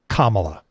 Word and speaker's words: Kamala: do for men yeah first name wise i believe that the consensus is kamala that's how she's chosen to pronounce it yeah and that's that's